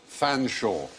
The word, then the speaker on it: Fanshawe: the top one how would you plan sure Fanshawe yes do you know that was Chumlee sorry